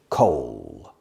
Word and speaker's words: coal: coal mining extraction pronunciation coal it's like cold without the d coal and there are